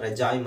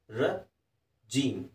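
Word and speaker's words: regime: ರಜೀಮ್, ಅದು ರೆಜಾಯಿಮ್ ಅಂತ ಅನಿಸುತ್ತೆ, because R ಇ ಜಿ ಐ ಎಮ್ ಇ ಇರೋದ್ರಿಂದ ರೆಜಾಯಿಮ್ ಅಂತ ಓದೋ ಸಾಧ್ಯತೆಗಳಿದ್ದಾವೆ. ಆದರೆ ಅದನ್ನು ರಜೀಮ್, ರಜೀಮ್, ರಜೀಮ್ ಅಂತ ಓದಬೇಕು.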